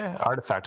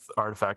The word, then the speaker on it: RTFKT: Are they artifact? I think is how you say it.